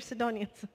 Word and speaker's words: Sidonians: Okay, they're Sidonians.